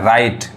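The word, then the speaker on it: right: आई जी एच टी यहां जी एच आ रहा है तो ये यहां जो जी एच है वो जीएच नहीं पढ़ाए क्या पढ़ाए राइट समझ में आ रहा है ये जीच क्या हो गया साइलेंट हो गया यहां पे देखिए फाइट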